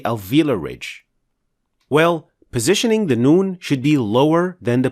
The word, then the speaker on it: Noon: In this lesson, we'll tackle the letter Noon, how to pronounce it properly, and what are the most common mistakes related to it. Noon is another letter pronounced from the edge of the tongue.